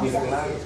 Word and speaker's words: Newfoundland: Am I pronouncing it right now? Newfoundland, yeah.